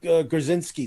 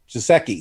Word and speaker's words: Gesicki: I mean, he was like, you got to drop Mike Grzinski. Is that how you say his name? Mike Gesicki.